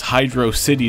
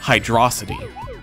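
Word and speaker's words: Hydrocity: people pronounce it as hydrosity I used to say hydrosity when I was younger but now I realize it's clearly supposed to be Hydro City and if you look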